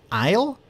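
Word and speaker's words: aisle: Oh, it's it's pronounced Isle.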